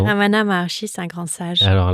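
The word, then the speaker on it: Ramana Maharshi: Euh Ramana Marchi, c'est bien comme ça qu'on prononce. Oui, Ramana Marchi, c'est un grand sage.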